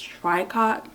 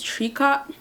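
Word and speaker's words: tricot: then I got some apparently I was pronouncing it wrong I think it's triot but they said it's tree cot yeah cuz every time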